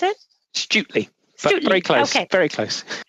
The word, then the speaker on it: Stutely: And from the Parliament of the United Kingdom and Great Britain and Northern Ireland, we also have Matt Stutley, is it? Is that how you pronounce it? Stutley.